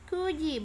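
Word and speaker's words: 九時: Kemudian secara ongyomi, kuji, bukan kyuji tapi kuji ya. Maka dibacanya kuji, artinya pukul 9 atau jam 9.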